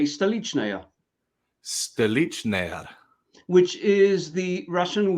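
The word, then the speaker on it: Stolichnaya: Well, you say Stalichnaya.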